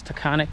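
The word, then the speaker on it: Taughannock: it to kayoga Lake I asked the ranger how you pronounce the name of this park it's tonic Falls State Park um this is kyoga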